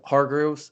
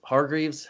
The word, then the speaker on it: Hargreaves: was Carlton Davis after they got rid of Hargrove's Hargreaves AK say his name ROC Hargreaves the veteran